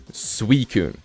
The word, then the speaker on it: Suicune: And then people are like, oh no, you say it like Suicune. Like sweet. Did we not just have a region called Hisui? Sui.